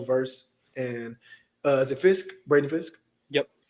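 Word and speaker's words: Fiske: Braden Fisk?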